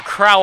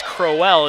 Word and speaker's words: Crowell: out boy Georgia College we're calling a Crowell all evening it's Crowe well as we just heard